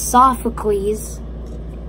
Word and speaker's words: Sophocles: For people that don't know how to pronounce him out there, it's Sophocles.